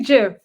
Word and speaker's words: GIF: So the person that invented GIF said it's like GIF, like Jiffy. Right. So I don't think it's Jiffy is J-I-F. That's how it's pronounced.